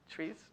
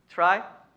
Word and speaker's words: trie: If you search persistent vector TRIES, tries, who knows the pronunciation? Try, I use try too.